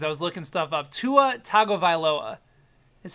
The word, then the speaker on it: Tua Tagovailoa: Tua Tagovailoa is how you say his name, or in the Harry Gary voice.